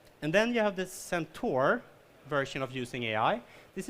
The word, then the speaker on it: centaur: the cyborg or the centaur. I was pronouncing it centaur, and then Graham, like our UK manager, is like, no, centaur. Centaur, right? Okay, good.